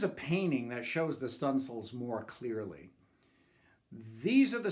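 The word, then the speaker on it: studding sail: But the sailors pronounce that word as stunsails.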